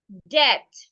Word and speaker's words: debt: says we can also have the word excuse me debt. Now in this word the V is silent.